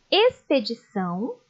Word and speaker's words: expedição: som de s simples o x aparece antes da consoante Leiam comigo expedição exploração exposição e explorar com som de ss